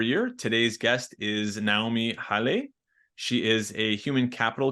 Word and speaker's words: Haile: Maybe you can tell everyone the true pronunciation. Naomi Haile. Haile.